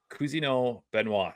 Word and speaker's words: Cousineau-Benoit: show Dominic what's up dude the director Dominic Kino benoa am I saying it right oh man you